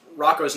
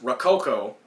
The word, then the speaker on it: Rocko: retail stores and um they mispronounced Rocco's name as Rococo they were like but